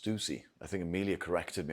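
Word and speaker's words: Stüssy: I believe it's actually pronounced Stussy.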